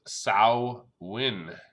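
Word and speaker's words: Samhain: to the ancient celtic festival of some hunt pronounced sal win saawan the Celts who live 2,000 years ago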